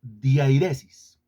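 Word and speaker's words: διαίρεσις: griego es el término diairesis diairesis se marca el acento en la segunda I la tilde en la segunda e diairesis y esa palabra griega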